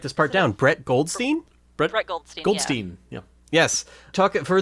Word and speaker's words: Brett Goldstein: Brett Goldstein.